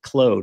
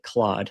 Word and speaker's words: Claude: I also didn't know you pronounce it Claude. I've always pronounced it Claude.